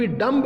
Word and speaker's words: dumb: आगे लिखा हुआ है DUMB, डम्ब नहीं, इसको पढ़ेंगे डम। आगे लिखा हुआ है कोम्ब, कोम्ब नहीं पढ़ेंगे, इसको कोम पढ़ेंगे, कोम।